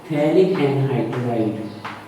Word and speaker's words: phthalic anhydride: अब देखो थैलिक एनहाइड्राइड की स्पेलिंग भी देख लेना ना, ये साइलेंट होता है ना, ये इसमें साइलेंट होता है, थैलिक एनहाइड्राइड, थैलिक एनहाइड्राइड, then phenolphthalein is formed.